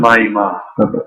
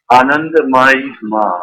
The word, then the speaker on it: Anandamayi Ma: Anandamayi Ma. Say that again. Anandamayi Ma.